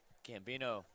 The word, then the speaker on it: Gambino: what a baseball name Gambino rhymes with the old Bambino baberuth he deserved to